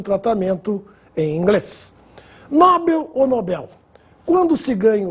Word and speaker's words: Nobel: se ganha o prêmio é Nobel Esse é o nome do Sueco que nos deu o prêmio da tão distribuído até hoje Alfred Nobel portanto sem acento não existe a forma nóbel como Alguns falam oceânia Oceania já ouvi